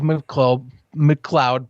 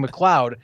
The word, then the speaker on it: McLeod: You might be thinking of McLeod Bethel Thompson. Now, that's a name that, much like the ref, I am having trouble pronouncing. I keep saying McLeod. It's McLeod. It's McLeod Bethel Thompson.